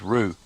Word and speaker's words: Whroo: This is the Rue Cemetery. It's spelt W-H-R-O-O, but it's pronounced Rue. It is the Rue Cemetery.